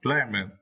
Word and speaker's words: glamour: Now, glamour. Yeah, now for my glamour. And for this words, you need to stress the first syllable, right?